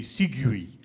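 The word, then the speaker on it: segue: know that uh a Segway is at the end of a joke that links onto another joke but that's spelled s-e-g-u-e which is hard for somebody with dyslexia but it actually should be sigui but I'm talking about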